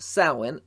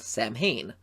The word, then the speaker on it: Samhain: And you are also set to appear in a slasher horror comedy called Samhain, as other people call it based on how it's spelled, Samhain.